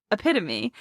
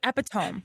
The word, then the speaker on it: epitome: Just to be clear, this this this person, but he mispronounced epitome, which I am also guilty of. I saw this. He's the epidome, right?